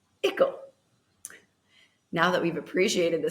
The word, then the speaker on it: icle: first want to appreciate that ickle on its own from an English alphabet standpoint, without knowing its history, which I will share in a moment, would be pronounced as isel. However, because the term article is commonly used in the English language, we've all been conditioned to pronounce it as ickle.